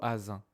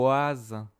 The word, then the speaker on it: voisin: Non, je ne dis pas vous asin, je dis vous voisin. Ouais. Voisin. Wis vous voisin voisin encore loué vous voisin. Voisin c'est le son. W.